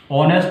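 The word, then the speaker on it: honest: जैसे देखिए, उच्चारण की महत्ता को देखिए। ऑनेस्ट लिखा हुआ है, ऑनेस्ट।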